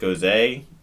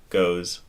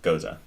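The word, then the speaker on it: Gose: gozos before but I was like is it pronounced Jose or I didn't see a ghost I didn't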